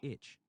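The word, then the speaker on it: ITCZ: call this rain belt the inter-tropical convergence zone i-t-c-z pronounced itch the itch follows the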